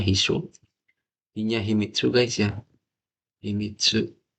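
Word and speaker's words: 秘書: Toh Hisho, ini cara bacanya Hisho.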